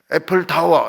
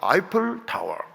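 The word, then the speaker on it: Eiffel Tower: 애플 타워 이렇게 하지 말고 아이플 타워.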